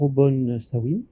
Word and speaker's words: O'Bomsawin: ou trois dû rencontrer ce soir monsieur o'bomsawin et le prononcer ce que je prononce bien votre nom